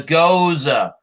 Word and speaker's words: Gose: The Goza, which is spelled Gose.